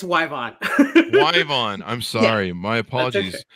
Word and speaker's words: Yvonne: be here good good did i get the pronunciation your first name correct almost it's yvonne yvonne i'm sorry my apologies i i throw